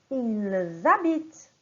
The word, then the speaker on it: ils habitent: On va prononcer « ils habitent ». Au pluriel, on fait la liaison. Et au singulier, on va dire « il habite ».